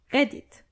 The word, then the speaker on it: Reddit: you who use redit Reddit in German is redit redit the only difference is that you actually have to roll your are Tik Tok is also